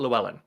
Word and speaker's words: Llewellyn: I see it um written out I'll be pronounce it there we go so it's Robert Llewellyn he plays Kryton he was also on [